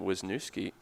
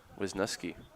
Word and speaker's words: Wisniewski: And I think at long last correcting us on how to say his last name after a couple of seasons of calling him Wisniewski. Now we know. Wisniewski.